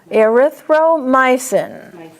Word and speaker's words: erythromycin: Don't say myosin, there's no A in there. Erythromycin.